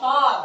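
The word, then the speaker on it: tall: Tinggi tol ya. Tulisnya tal bacanya tol.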